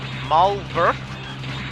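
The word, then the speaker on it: Maulwurf: Marwolf is supposed to be a play on pronunciation. Malwurf, I guess how you'd say it. It's German for mole.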